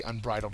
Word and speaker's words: unbridled: that teenagers could be unbridled as well doesn't have to be an animal um in that regard it is an adjective and the second syllable is accented the synonym is unchecked